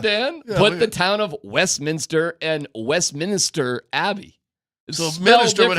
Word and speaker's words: Westminster: ones in town yeah it's Westminster Westminister well that's literally how it's spelled Louisville is spelled the